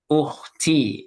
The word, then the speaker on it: أختي: There's a difference between P and T. If you say to, if you say P, that's pronunciation of P. You're pronouncing P. To. But you got to say ta. Ukhti. It has to be soft.